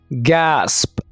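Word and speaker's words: gasp: इनको सीखना ठीक है गैसप कैसे बोलना गास्क ना बोलिएगा इसको गैसप हैरानगोइथॉन्ग कैसे बोलना है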